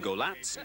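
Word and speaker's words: Golac: dust sheet was whipped off at last ivan golatz and that's the correct pronunciation was revealed as a man of quiet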